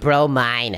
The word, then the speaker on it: bromine: the best one ooh it's pronounced bromine it's not bro oh no cash name